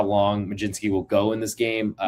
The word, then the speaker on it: Mlodzinski: To the night slate, we'll start with the Pittsburgh Pirates and Carmen Mlodzinski, excuse me, not spelled how you pronounce it, but here we go. Mlodzinski next.